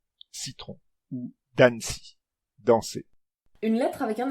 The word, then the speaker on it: danci: Et en espéranto, le son associé à cette lettre est le son ts, comme dans le mot citrono, citron, ou danci, danser.